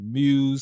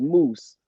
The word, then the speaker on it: Mus: is it correctly pronounced because people say muse some people say me i've heard stole me and then mr my name properly pronounces moose moose see we got different